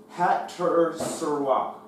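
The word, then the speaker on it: חֲצֹצְרָה: Hat-ser-serah. Hat-ser-serah, which is spelled C-H-A-T-S-O-T-S-E-R-A-H.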